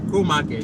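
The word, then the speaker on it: K-Market: K is pronounced as Co Market, right?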